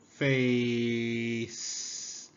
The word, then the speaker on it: face: F. A. Face. Face. Silent E.